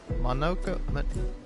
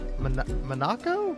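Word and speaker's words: Monoco: Monokco. It's not Monaco.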